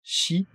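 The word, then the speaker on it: 四: Nigatsu, Sangatsu, Shigatsu, attention, le yon parfois se prononce shi, comme la mort, c'est pour ça que le yon porte malheur au Japon.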